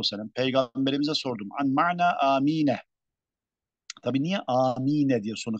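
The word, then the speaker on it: آمين: Meddü elifihi ve kasruha. Birinci lehçeye göre elifi med yapılır. Yani amin diye okunur. Ve kasruha ve elifi kasrıyla yani emin şeklinde.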